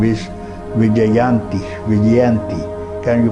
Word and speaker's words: Vijayanti: So this name is Vijayanti. Can you pronounce?